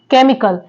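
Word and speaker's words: chemical: next word है sorry केमिकल केमिकल में जो यहां पे एच आ रहा है सी के बाद वो भी साइलेंट है ओके नेक्स्ट वर्ड है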